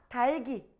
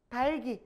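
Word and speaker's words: 닭이: 어떻게 할까? 달기. 달기. 바로 연음을 해 버려요.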